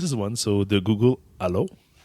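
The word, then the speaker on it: Allo: one so the Google Alo which is pronounced like Halo yeah you're right basically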